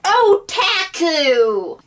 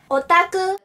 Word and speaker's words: otaku: another term which is English pronunciation oh taku Japanese pronouncing Asian otaku this will at least